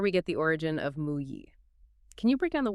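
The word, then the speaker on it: 木: On the left, you have the radical for wood, which is pronounced "mu".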